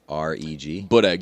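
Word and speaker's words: boureg: How do you spell that? B-O-U-R-E-G. B-O-U-R-E-G? Budeg, yeah.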